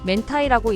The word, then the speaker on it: 明太: 명태(明太)라는 한자를 쓰고 '멘타이'라고 읽는 것을 봐도 알수 있듯이 명란젓의 원조는 한국입니다.